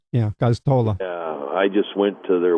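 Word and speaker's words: Gosztola: I'm sorry, I can't pronounce his last name. It's a hard one. Goztola. Yeah, Goztola.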